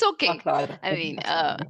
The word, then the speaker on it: Ahlada: I mean, Ahlada. I've heard like one of the most popular variations is Alada. So I've heard all variations and I've heard it pronounced Ehlad.